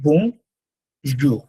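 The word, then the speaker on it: bonjour: এই যে একটা ওয়ার্ড বং, ইটস নট বোন, ইটস বং। এখান থেকে বং, ইটস কামস হিয়ার, বং বং। আর পরেরটা হচ্ছে জুখ, বলবো না আমরা, আমরা বলবো জু।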